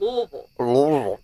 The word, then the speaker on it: Louisville: It's Louisville. Louisville or barbble.